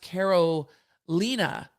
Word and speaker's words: Carolina: the bar in July my name is pronounced Carol Lena thank you Carolina um